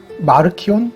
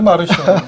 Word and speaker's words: 마르키온: 전 시간에 이어서 오늘 이번 시간에는 초대교회 이단 중에 마르키온, 네, 마르시온이라고도 하고 뭐가 맞는 거예요? 영어식 발음이겠죠? 마르시온, 마르키온이 맞는 발음이겠지. 이 영어 발음을 하면서 발음이 엄청나게 망가진 게 많거든요.